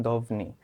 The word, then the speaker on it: ধ্বনি: হ্যাঁ, এবং অধিকাংশ কলকাতার মানুষ ওরা অনেকে উচ্চারণ করেন দভনি। হ্যাঁ, শব্দ দুইটাই সঠিক, দভনি বলতে পারো, ধ্বনিও বলতে পারো, কিন্তু আমরা ধ্বনিটাই বলবো এবং আমরা লেখার ক্ষেত্রে উপরটাই লিখবো।